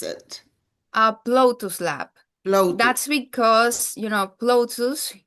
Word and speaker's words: Ploutus: is the correct way to pronounce it? Ploutus Lab.